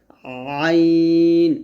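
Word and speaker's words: عين: আইন, এখানে এক ধরনের চাপ প্রয়োগ করতে হবে, আইন, এরকম।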